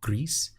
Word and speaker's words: Gris: is an indie game spelled gr is it is the Spanish pronunciation of gray grease and it's this indie